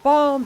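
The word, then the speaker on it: Balm Lily: There's so many pinch of pepper nuts and blam lily seeds everywhere. It's pronounced balm.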